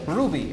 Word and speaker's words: RWBY: What does it spell? it spells Ruby, and it's the initials of all their names. That's how you pronounce a W.